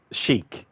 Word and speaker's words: chic: thank you shaki yeah so it's Sheik yeah cuz there's some words that you hear so often and then when it comes time to actually pronounce it you think to yourself oh is this actually how it's pronounced but thank you shi for redeeming that so it's a Chic so something chic with